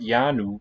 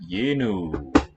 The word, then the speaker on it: yenu: Not yanu, but yenu.